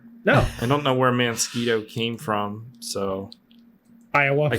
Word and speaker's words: Mansquito: to it several times Lindsay says it's mansquito because that's the proper way like a mosquito a